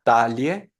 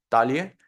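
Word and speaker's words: Taille: está si no la mandamos a la segunda sílaba la primera sería la palabra cintura talie talie y la segunda sería la palabra medalla Igual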